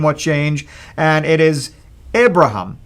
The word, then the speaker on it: Abraham: without the yeah but it sound like the Hebrew way of saying it before his name will change and it is Abraham like this and the